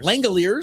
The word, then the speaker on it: Langeliers: Some of the other things that happened today, I'm trying to Oh, Shea Langeliers? Yep. Langeliers. to say, Langeliers. That's how you pronounce it.